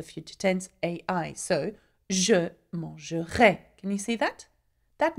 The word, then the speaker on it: mangera: Now, tu mangeras. You will eat. Il mangera. Okay? Though it has no S, it's still pronounced the same way as tu.